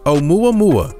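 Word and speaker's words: ʻOumuamua: Pronounced Oumuamua, meaning the first time visitor from far away in Hawaiian, this asteroid is the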